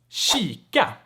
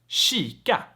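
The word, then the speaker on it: kika: know that tricky one let's talk about the k sound in front of soft vowels right and i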